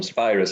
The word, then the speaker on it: Spirus: Spirus is how we pronounce it.